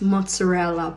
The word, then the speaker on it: mozzarella: This is not mozzarella, but it's mozzarella. Trust me, I'm Neapolitan. And this is pronounced I don't give a fuck, not I don't give a fuck.